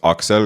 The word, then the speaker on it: Aksel: the lore on that is my name is actually pronounced Aksel because I'm like Estonian, Oh, yeah.